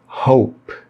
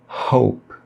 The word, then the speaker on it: hope: O H da palavra hope, aqui no presente contínuo hoping, ela não é pronunciada com o som do nosso R forte. É muito comum que as pessoas errem as palavras que começam com H e acabam pronunciando com o som de R, o nosso R forte, como em carro, roupa ou rei. A pronúncia correta do H é também feita com aspiração, aí fica hope, hope.